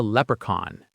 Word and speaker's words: leprechaun: Okay, next up is a leprechaun.